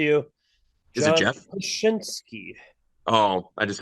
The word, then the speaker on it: Krasinski: John Kruskinski. Close enough. I'm going to give it to you. Is it John Jeff? Krasinski.